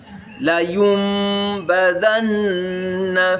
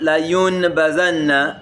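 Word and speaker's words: لَيُنبَذَنَّ: La yumbadanna fil hutama. So whenever you see it, don't call it la yunbazanna, it's la yumbadanna fil hutama.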